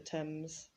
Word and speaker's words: Thames: the amazon the thames notice the pronunciation there of thames uh as often happens in english spelling it's it's written in a completely different way to how it actually sounds the thames with lakes we don't